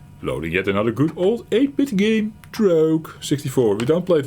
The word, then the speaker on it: Drogue: Well, I learned it is Trog, not Rogue, and then Drogue.